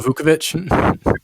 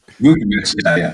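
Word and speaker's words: Vučević: So I would love to get, I don't know how to pronounce his name, Nikola Vucevic. Vucevic, yeah.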